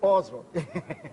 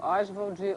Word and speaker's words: Oswald: explica pra gente aí essa polêmica da pronúncia do nome porque eu chamo osal tem até um artigo do Antônio C dizendo osvald osvald Osvaldo osal enfim é porque a avó o pai chamava osval osvald Andrade ele Osvaldo Andrade o